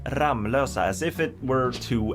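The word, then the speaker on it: Ramlösa: you pronounce it ramusa if you did pronounce it ramlosa then you pronounce it correctly there's a lot of sweets who actually pronounce it R Losa which would make sense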